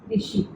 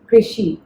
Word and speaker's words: कृषि: एक वर्ड है कृषि, कृषि। ओके, तो कैसे सुनाई दे रहा है? क्री एंड शी। तो फर्स्ट क्री एंड देन शी, सो कृषि, कृषि।